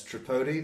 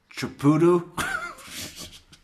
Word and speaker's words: Tripodi: It happens with regularity, Jeff Lacasse is like, yeah, it's Tripodi, that's Tripodi. Trpd? And then when he finally gets it written down, he's like, Tripudu? Stephen Tripudu?